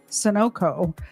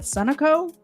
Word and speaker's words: Sunoco: pumping gas at the Sunoco. I always in my head call it Sunoco, and I know that's wrong. It's pronounced Sunoco, isn't it?